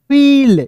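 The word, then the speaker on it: feel: एफ I double L, फील, यानी कि ई के रूप में उच्चारण आ रहा है दोस्तों, जैसे हम फील,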